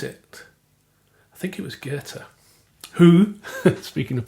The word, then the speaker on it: Goethe: I used to think his name was Goethe, Goethe, which is how it's spelt. I think I might have said it once in public and was corrected that it's pronounced Goethe.